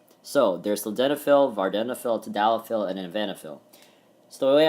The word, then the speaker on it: tadalafil: Vardenafil, don't really know, but I have something for tadalafil and avanafil. So tadalafil, tad rhymes with pad, sounds like lily pad.